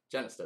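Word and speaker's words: Jenista: Genesta. Genesta is how you say it.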